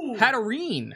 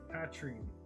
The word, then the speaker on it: Hatterene: We have a Holo Hatterene. Hatrine? Hatterene. Is that there? Okay, I feel like you don't pronounce some of the letters that you need to. Hatterene. Hatrine. It's not Hatrine.